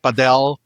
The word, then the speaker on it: Padel: Is it Conquer Padell or is it Paddle? Which one is it? This is a ongoing debate, man. I call it Padell.